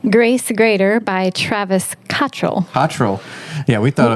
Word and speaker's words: Cottrell: pronounces That's his name. So Cottrell.